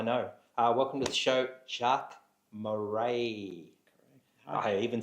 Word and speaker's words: Jacques Marais: Welcome to the show, Jacques Marais.